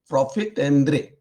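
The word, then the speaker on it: profit à prendre: Then there is another concept called profitendre. That's a French word, obviously. It is spelled as profit, Prendre, but pronounced as profitendre.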